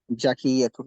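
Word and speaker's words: ذكية: জাকিয়াতুন না, জালের উচ্চারণ জাল, জিহ্বাটাকে জাকিয়াতুন, জি জাকিয়াতুন শুধু একটু বের করবেন, বের করে উপরের দাঁতের মাথার সাথে লাগাবেন, আগার সাথে লাগাবেন জিহ্বাটাকে। জাকিয়াতুন, এই কত সুন্দর হয়ে গেছে।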